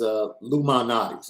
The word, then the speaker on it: Lou Malnati's: Ryan Loftus says, Shaun, Connie's or Lou Mal's? Lou Mal's? Am I pronouncing that right? I mean, it is Lou Malnati's. It's short for Lou Malnati's.